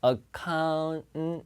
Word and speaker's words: account: N하고 T가 어차피 혀가 같은 위치에서 나기 때문에 그냥 T 사운드 안 내도 되는 거예요. international 이렇게 해도 되는 거예요. 그래서 여기서도 account 이렇게 들리 그냥 account 발음이.